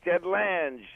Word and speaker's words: Ted Lange: Good to be aboard, and yes, you said it right, Ted Lange.